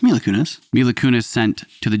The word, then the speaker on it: Kunis: Mila, or some people say, how do they pronounce her name? Mila Kunis? Kunis? It's Mila Kunis.